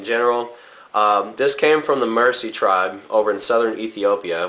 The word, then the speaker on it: Mursi: This came from the Mursi Tribe over in southern Ethiopia, which look them up on either like Google or YouTube.